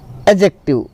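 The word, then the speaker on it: adjective: दूसरा है आपका एडजेक्टिव, है ना। एडजेक्टिव में डी जो है वो साइलेंट है आपका।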